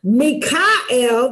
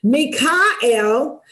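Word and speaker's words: מיכאל: God and we have Mikel that's how it's pronounced in Hebrew Mikel which is who is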